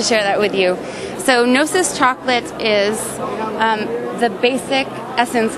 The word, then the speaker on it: Gnosis: GNOSIS Chocolate. GNOSIS Chocolate.